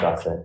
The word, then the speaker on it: Grasset: Gracie, Your Honor. Is it GA or? It's pronounced Gossett.